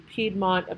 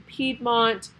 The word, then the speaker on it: Piedmont: Piedmont, remember, is spelled P-I-E-D-M-O-N-T.